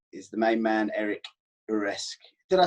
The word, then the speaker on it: Uresk: to say it, but the Americanized version is Uresk. But Uresk. Yeah, I would imagine in Europe they pronounced it the way you did.